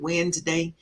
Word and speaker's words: Wednesday: today today is Wednesday wedness day lots of letters for no reason because we just pronounced it Wednesday wef annual meetings CB